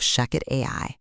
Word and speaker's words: ShechetAI: Welcome to From the Desk of Shucket AI. That's spelled ch AI.